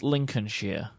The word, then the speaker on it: Lincolnshire: I want to put an immediate stop to your pronunciation of that. It's Lincolnshire.